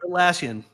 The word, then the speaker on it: Atlassian: Atlasian, how do you say it? Atlassian.